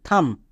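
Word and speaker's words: thumb: যেমন একই রকমভাবে দেখো, প্রত্যেকটি ওয়ার্ডের শেষে বি আছে এবং এম এর পরে বি আছে, তাই বি সাইলেন্ট আছে। যেমন COM, কম, BOM, বম, THUM, থাম।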